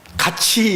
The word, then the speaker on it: 같이: 있습니까 5 아 그러면 같이 가 뭐에요 같이 옆에 있는 같이 그것이 가치가 아니고요 어 발음은 똑같아 같이 그러나 가치는 요 우리